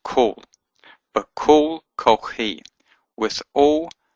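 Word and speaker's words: כֹּל: It means all, and it's not pronounced Qal, but kol. It has a o sound, even though it has a kametz here.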